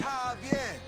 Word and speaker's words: Javier: It's Javier. It's pronounced like an H.